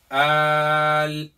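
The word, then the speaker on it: الآن: You fulfill the mad, and then the next one is sukun. Al-ana. The lam has a sukun.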